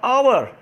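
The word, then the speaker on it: hour: अब आवर, यहाँ पर एच है लेकिन ये साइलेंट है, यहाँ पर एच साइलेंट,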